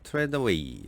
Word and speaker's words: Trethewey: 시를 가져봤습니다 어 시인은 나타샤 트레더웨이 아는 또는 트레처 요렇게 발음하기도 하는 거 같은데요 여성 시인이고 작가 소개